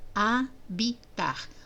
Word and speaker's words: habitar: Habitar. Observa, então, que embora a gente fale A, olha, tem duas letras e o som continua sendo de uma só.